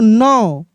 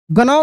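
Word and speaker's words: gnaw: तरीका से पढ़ेंगे क्ल जी एन ए डब्ल्यू नौ गौ नहीं जी भी साइलेंट है डी आर ए डब्ल्यू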